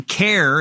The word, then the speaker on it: CAIR: CAIR is how people pronounce it, C-A-I-R.